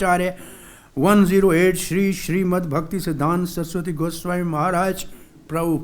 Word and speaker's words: Bhaktisiddhanta: man's parabolic arch are a 1:08 sri srimad bhaktisiddhanta so the goswami maharaj prabhu pod this is the way to pronounce the name of this spiritual master or